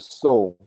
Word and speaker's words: SEOL: I use the acronym SEOL, and I pronounce it soul, and it means source energy of life, and I associate that to be melanin.